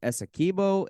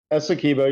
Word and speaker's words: Essequibo: I want to make sure I pronounce it right. Is it Essequibo? Essequibo? Essequibo, you said it right the first Essequibo.